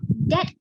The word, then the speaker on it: debt: three will be your debt related ratio okay remember it's pronounced as d e t that b is silent okay just information for